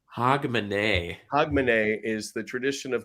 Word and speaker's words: Hogmanay: And then also you should know, Miss R, that it's pronounced Hogmanay. Hogmanay. Hogmanay.